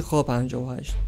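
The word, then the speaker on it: Х-58: بمبای سقوط آزاد با وزنهای مختلف موشک ضد رادار کی اچ ۵۸ یا به عبارتی خا ۵۸ تلفظ حرف شبیه ایکس به روستی میشه خا و توی انگلیسی ک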